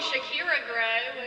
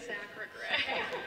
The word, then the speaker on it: Sacra Gray: Okay, I think he called me Shakira Gray, which, like, I'm okay with being in the same wheelhouse as Shakira, but it is Sacra Gray.